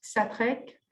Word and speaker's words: Xatrec: Então, começamos com Christian Xatrec, c'est comme ça qu'on prononce Xatrec, qui vai fazer a comunicação Jean Dupuy, Les Peintures Anagrammatiques.